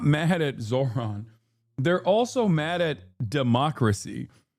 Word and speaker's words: Zohran: Bernie pronounced it better than you. Yes, I know it's Zohran Kwame Mamdani.